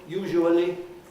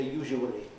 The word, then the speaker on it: usually: But it sounds completely old-fashioned and wrong to me to say usually. Usually. 4 syllables. No, they're not 4 syllables these days. They're usually 2 or 3 syllables. And usually, for instance, in a very common pronunciation, that's just 2. Usually is 3.